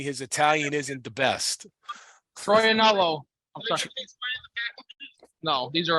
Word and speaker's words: Troianiello: It's Troianiello. Troianiello Cigars. Troianiello. That's how you say it, Chris. Troianiello Cigars.